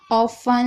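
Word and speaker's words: often: शब्द के आखिरी में टी ई एन हो तो टी साइलेंट रहेगा। जैसे कि ऑफन, लिसन, यहाँ पर आप देख रहे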